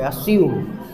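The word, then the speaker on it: assume: मैंने Oxford dictionary देखी, हाँ जैसे रेज्यूमे होता है ना, उसी तरह से मैं भी यही सोचता था ये ज आएगा यहाँ पे, लेकिन जब मैंने ऑक्सफोर्ड डिक्शनरी में देखा उसका प्रोनाउंसिएशन, तो वो स है, स की साउंड है वहाँ पे, अस्यूम। फिर मैंने चेंज किया अस्यूम।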